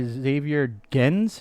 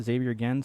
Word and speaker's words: Xavier Gens: It's originally a Spanish film directed by Xavier Gens. Is that how you pronounce it? Xavier Gens, something like that? I think that's how it was said, yeah.